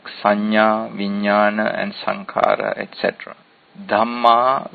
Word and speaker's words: Dhamma: Dhamma with a long A is another important word, which means the same as kamma bija.